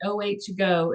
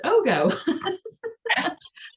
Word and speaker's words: OHgo: So I've been calling it OHgo, and I watched your video yesterday and I was like, oh, it's OHgo. I've been saying it wrong this whole time.